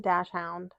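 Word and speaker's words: dachshund: like the Wiener dogs some people pronounce it dashound and it doesn't look like how it's spelled but a lot of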